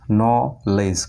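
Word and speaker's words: knowledge: তারপর KNOW LEDGE ন লেজ, KNOW পর্যন্ত ন, তারপরে LEDGE এখানে কিন্তু ডিরও উচ্চারণ হচ্ছে না, কারণ আমরা গত পার্ট ওয়ানে আমরা পেয়েছিলাম ডি কখন সাইলেন্ট হয়, যখন DG ডির পরে জি থাকে তখন কিন্তু ডি সাইলেন্ট থাকে।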